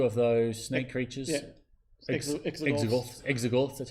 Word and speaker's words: Exogorth: Exogorths, that's how you say it.